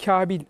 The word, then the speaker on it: Kabul: önce bu Kabil kabul Kabil Kabil gibi böyle telaffuzlar oluyor E tabii Eee genellikle yabancılarda Eee İngilizce Eee kabul Eee yazılıyor ve kabul diyorlar değil mi Kabul mu İngilizcesi telaffuzla kabul galiba Ama biz onu daha çok Kabil olarak telaffuz ediyoruz doğrusu kefle sı kef Elif